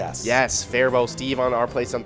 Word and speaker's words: Faribault: Oh, and Steve from Our Place on Third, and I'm trying to think of how it was actually supposed to be pronounced. Faribault. Yes, Faribault.